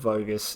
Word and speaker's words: Vogus: my last name but bogus is the the phonetic pronunciation from Hungary okay and it starts